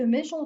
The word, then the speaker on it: méchant: Et faites attention aussi que méchant termine par T. Je le vois, mais j'entends pas.